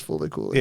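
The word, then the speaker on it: Fooly Cooly: fully coolly? Because I that's, don't I think, what the Explain name it is. to me. Oh, no, it's pronounced as Fully Cooley.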